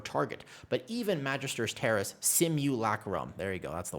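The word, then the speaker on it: simulacrum: But even Magister's Terrace Simu Lacum, there you go.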